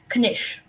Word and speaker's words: knish: Knish, am I pronouncing that correctly? Yes. Okay. Knish.